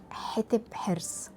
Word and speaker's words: حتب حرس: يعني مثلا النهاردة أنا طول الفيديو هكون بقول حتب حرص، هي اسمها الصح حتب حرص، فعايزاكم بقى تعتمدوا الاسم ده طول الفيديو.